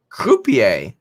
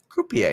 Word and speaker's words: croupier: one croupier oh pa coupier croupier is how you say it that's close a person